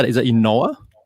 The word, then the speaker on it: Eunoia: Is that Enoa? Eunoia.